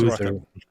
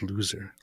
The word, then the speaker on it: Luther: Luther. It's pronounced Luther, not loser.